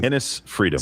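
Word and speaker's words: Enes Freedom: Nis Freedom.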